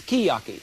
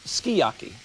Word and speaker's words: sukiyaki: This is not suki. They tell me it's skiyaki. S-U-K-I-Y-A-K-I is pronounced skiyaki.